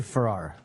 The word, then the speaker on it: Ferrer: I say Ferrer. Ferrer. Ferrer. I think I might have won that one. Ferrer. Got to pronounce that E, right, But Alex?